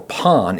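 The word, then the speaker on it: パン: portuguese also probably introduced the word pan or pon is the authentic pronunciation pon just means bread in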